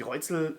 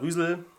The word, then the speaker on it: Reuzel: Ich habe empfindliche Haut, ich habe relativ harte, borstigen Bart und die Reuzel Shaving Cream oder Rüsel auf Holländisch hoffentlich richtig ausgesprochen, weicht das Barthaar sehr